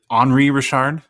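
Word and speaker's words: Henri Richard: I I looked up quick the is it Henry Rashard did I pronounce it right all right great top sale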